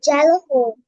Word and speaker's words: xylophone: X for xylophone. Xylophone. এটা যা যা হবে না বাবা, এটা হবে জাইলোফোন, ঠিক আছে? এক্সটাকে এখানে যদিও বা আমরা Xylophone. জাইলোফোনে এক্সটাকে উচ্চারণ করি না, কিন্তু এক্স এর যে